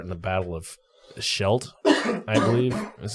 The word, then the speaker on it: Scheldt: was taking part in the Battle of the Scheldt that's how you say it I'm not sure